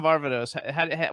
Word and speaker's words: Varvatos: How do you pronounce Varvatos? John Varvatos.